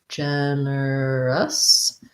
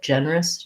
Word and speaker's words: generous: look at that generous so basically we have first syllable stress there that's our red tent vowel gen and generous and then we have an er and finally the lacks us generous and you may hear that americans will say this with three clear syllables you know he's very generous and they may reduce it a little bit generous generous these two run together a little bit it almost sounds like two syllables a very generous person